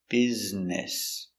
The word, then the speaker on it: business: b z Biz b e b s business business business let's practice is he busy today